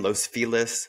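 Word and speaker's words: Los Feliz: was a barista in Los feles which is not how you pronounce it but that's how they say it in Los Angeles and yeah I ended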